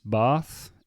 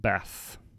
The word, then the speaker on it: Bath: at the beginning, was this sound, the A, in English can be pronounced in different ways. So depending on which part of England you're from, what kind of accent you have, some people would pronounce words with an R, and some people would be A. So a good example is Bath and Bath.